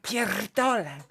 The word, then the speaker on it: pierdolę: Ja pierdolę. Pierdolę. Okay? That's the I r. You have the very hard R when you pronounce it, which gives it a hmm. punch, you know?